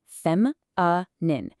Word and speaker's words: feminine: First, feminine, and notice the careful phonetic breakdown, fem uh nin, meaning of women or girls.